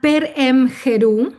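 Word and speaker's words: Per-em-heru: Entonces, el libro de los muertos, que en egipcio se llama Perem Jerú, así se pronuncia, peremjerú.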